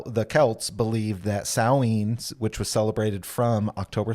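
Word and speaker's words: Samhain: if you see it you probably think oh Sam Hayne which is how I've always pronounced it uh but is it's pronounced saen it's a Gaelic celebration that would happen at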